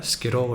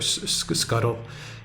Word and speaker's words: Scytl: company and uh scytl I think it's pronounced uh Skittle or Scuttle um and the supposed